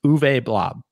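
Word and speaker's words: Uwe Blab: his name before this blob for the for the audio listeners is spelled you w e and blob is spelled b l a b but it's uve blob oh this is uv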